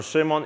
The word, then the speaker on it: Szymon: So uh my name is Simon or Shimon if you are brave enough to try to pronounce that.